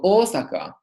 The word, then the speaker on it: Osaka: the word Osaka Osaka to say the Japanese city Osaka we pronounced a long all at the beginning so Osaka or as you can